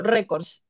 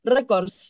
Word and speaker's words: récords: Bueno, lo que pasa es que, ¿qué pasaría si viene una pregunta, bueno, una pregunta tipo grave y llegue con, por ejemplo, récords?